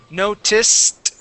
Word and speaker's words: noticed: um all right so remember if the word is notice and it ends with an s sound we add an ed what do we do to the Ed sounds with it when it ends with an s a t sound good okay so how